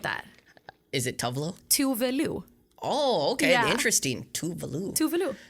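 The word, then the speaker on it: Tove Lo: So like, it's really funny how people pronounce these Swedish artists. I'm like, I was correct. Actually, it's Tuvalu.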